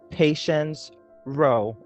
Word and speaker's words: Patience Rowe: do podcast and today i have with me patience row did i pronounce that correctly yes okay um and patience